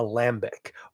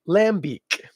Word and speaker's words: Lambic: do a Lambic or if you want to pronounce it properly and also sound a little insufferable when you order in a bar say lamb Beach I actually think it might even be like that it might be a